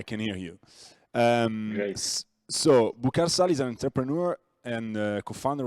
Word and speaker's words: Boukar Sall: So, Boukar Sall is an entrepreneur and co-founder of Plaiz. Is that the right pronunciation?